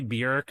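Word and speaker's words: Björk: It's like Buork. I'm gonna say Buork. It's really Bork, but I'm always gonna say Buork.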